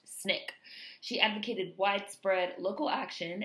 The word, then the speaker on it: SNCC: nonviolent coordinating committee or the sncc pronounced snick she advocated widespread local